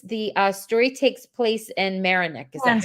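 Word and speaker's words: Merinac: They were wondering, well, okay, so Chris, the story takes place in Marinick. Is that how you say it? Marinick.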